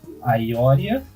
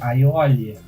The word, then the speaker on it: Aiolia: Tipo, ao invés de ser Aioria, é Aiolia, Milo. Tá a diferença. Eu disse que tem diferença, não disse que era enorme a diferença. Né? A pronúncia do R no Japão é quase um L ali, então...